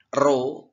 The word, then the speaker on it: rho: F itu frekuensi, L itu panjang senar, rho P ya seperti itu ya. Rho itu dibaca yang seperti kata-kata P itu ya. Itu bacanya rho.